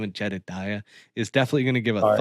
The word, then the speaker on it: Jedediah: Jedediah Morgan.